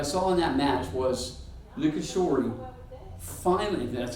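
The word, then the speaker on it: Nishikori: And I think what I saw in that match was Nikishori finally, that's how you say it, finally brought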